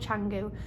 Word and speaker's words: Canggu: We're staying in, I think it's called Canggu. I think you spell it Kangoo, but I think it's called Canggu.